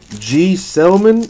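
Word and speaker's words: Gsellman: it just be like straight up g-man that's it boom done G Selman is how you pronounce it I got I got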